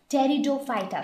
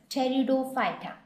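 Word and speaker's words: Pteridophyta: seeds were known as teroy so here P silent when we pronounce it so they are known as teroy and those plants which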